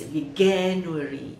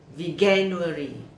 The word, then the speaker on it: Veganuary: me it's like veganuri veganuary we can worry oh no no no i get it it's like january so it's a vegan worry aha my first learning